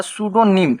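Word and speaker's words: pseudonym: यहां पर पी को हम लोग साइलेंट कर देंगे। तो ये पी को हटा देंगे। यहां पर हो जाएगा सूडोनिम। यहां पर सूडोनिम हो जाएगा। तो ठीक है ना? तो इसको पढ़ना है सूडोनिम।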